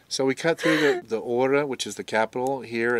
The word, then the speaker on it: Chora: So we cut through the Chora, which is the capital here. It's spelled Chora, but I understand they don't pronounce the C, so I think it's Chora. Or Hora, I'm not sure which.